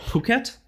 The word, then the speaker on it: Phuket: I think it's pronounced like Phuket, like in Thai, like PH is just P.